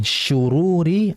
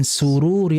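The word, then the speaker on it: شرور: Tapi ada saja di antara kita yang membacanya wa na'udzubillahi min sururi anfusina. Pakai sin. Harusnya kan shin ya.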